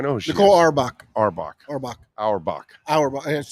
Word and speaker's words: Auerbach: Auerbach.